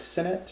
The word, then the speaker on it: Signet: just like that signet s-i-g-n-e-t how do you pronounce that segment okay i was i didn't know the g was silent it was senate or cincinnati i don't